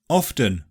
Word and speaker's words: often: GOURMET CASTLE LISTEN And it's optional in OFTEN, yeah people often drop the T there.